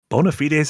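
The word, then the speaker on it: bona fides: Bonafites is actually correct pronunciation.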